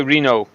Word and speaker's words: Renault: How do you pronounce Renault? Shite. That'll cover it. Renault. Renault. Mm-hmm. No, a We Renault. just say Reno or something like that.